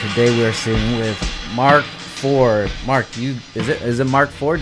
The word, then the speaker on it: Mark 4ord: It's Ford, but it's like spelled different. It's with the 4 instead of the F. You know. So when you have people like pronounce it, it's just Mark Ford.